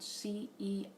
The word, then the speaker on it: Ceres: Now, one other element that is happening during this time is that the asteroid known as Ceres, that's spelled Ceres. Think of that's the beginning of the word cereal.